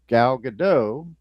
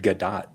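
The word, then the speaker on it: Gadot: Woman and that is Galado who starred in a series of movies recently. I think she pronounces it Gdat. Does she really? Yeah. She's not French.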